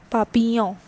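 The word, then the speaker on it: papillon: right next is lei papiyan what is the pronunciation this is papiyong so always this double l is not for nouns and the pronunciation is papiyan all right so s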